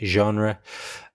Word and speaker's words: genre: It's one of these words that comes from French and is kind of pronounced in a French way, genre.